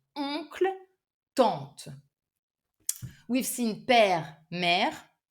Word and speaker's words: oncle: Normal word would be oncle ou tante. Not easy either because they are both like using a nasal French sound. Oncle, tante.